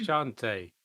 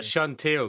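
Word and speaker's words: Chauntea: I'm a cleric of Chante, not Chantil, because I keep forgetting the correct pronunciation.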